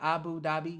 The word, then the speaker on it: Abu Dhabi: Abu Dhabi. They said, is that how you pronounce it? Abu Dhabi?